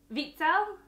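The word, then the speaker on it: Wiesel: is night by eli vitzell i never say his name right i always call i know the w is pronounced as a v vitsal okay so um but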